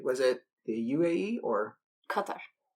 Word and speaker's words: Qatar: Qatar. I was going to say Qatar, but that's not the right way to pronounce it.